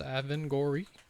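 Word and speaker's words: Avengorii: Yeah, pronouncing it right. It's Avangori.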